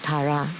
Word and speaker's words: Tara: But we should chant Om Tara Dudara Dura Soha.